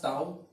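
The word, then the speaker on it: tau: टाउ जो होता है this is pronounced as टाउ।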